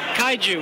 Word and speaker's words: Kaiju: Droid Guy, and we've got, how do you pronounce that? Kaiju.